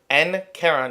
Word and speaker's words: Nqeron: So for those of you who don't know, I'm Nkeron. Yes, that is pronounced Nkeron, even though it's spelled Nqeron.